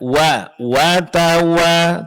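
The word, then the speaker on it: وَتَوَاصَوْا: Wa di sini sempurnakan bunyi fathahnya. Wa tawa. Coba. Watawa. Nah, kemudian jangan ada suara yang keluar dari hidung.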